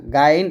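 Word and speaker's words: غ: মোটা মোটা করতে হবে অর্থাৎ আমরা অনেকে গইনটা উচ্চারণ করি গইন অনেকে গাইন বলি তো গাইন তো বলা যাবেই না আবার গইন উচ্চারণ করি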